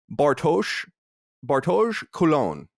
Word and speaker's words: Bartosz Kulon: Now, I mispronounced his name earlier. I'm going to try now. Bartosz Kulon. Am I getting that? Perfect. That's like a bit French.